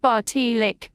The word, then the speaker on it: Baš Čelik: Baš Čelik Cyrillic, pronounced Baš Čelik, meaning head of steel from Turkish Baš for head and celik for steel, is a Serbian fairy tale collected by Vuk.